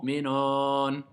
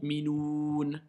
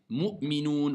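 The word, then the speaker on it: مؤمنون: Le mot minon. Non, c'est le mot minoun. Ok? Donc, il faut apprendre à bien prononcer. Mu'minoun.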